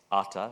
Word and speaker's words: AATA: It's not very sexy, but if you pronounce it as ATA, which means what in Hindi, Pranav? Atta.